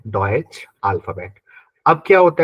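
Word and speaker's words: Deutsch: अब आपको जर्मन के बारे में तो पता है कि जर्मन को बोलते हैं हम लोग डॉइच, जर्मन को बोलते हैं डॉइच।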